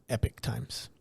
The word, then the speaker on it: Epoch Times: it they I believe they still call it Epic Times okay they spell it like Epoch though that's probably but it's it's pronounced Epic Times okay okay go ahead so they have an